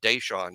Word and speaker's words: Dashawn: Going to practice with BOL and the media crew, you hear the players on the team call him Day Day, and I'm like, oh, you must pronounce it Dashawn. And yeah, that is the case.